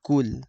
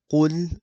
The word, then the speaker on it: قُلْ: For the qaf, you have to make sure that you make it heavy and not light, because if you keep it light, you're going to say kul, which means eat, and qul, when it's heavy, means say.